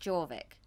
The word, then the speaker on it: Jorvik: JORVIK, is that how it's pronounced, or is it pronounced Jorvik? It is Jorvik. No, you're quite right, Jorvik, yeah.